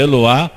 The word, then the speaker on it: Eloá: Eloá ou Eloi né Essa Bíblia aqui ensina que pronúncia é Eloá na página sete Mas